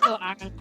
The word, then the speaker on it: iron: I'm from Pittsburgh. We just go iron. We just go iron. It's one syllable.